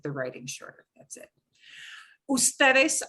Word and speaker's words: ustedes: Ustedes often gets a shorthand UDS period. Again, it's an abbreviation, but you pronounce it as ustedes, okay?